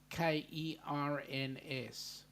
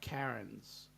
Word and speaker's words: Cairns: Cairns, we pronounce it Kerns. Cairns. Right? Not Karens. The AI is pronounced as in air, the air you breathe.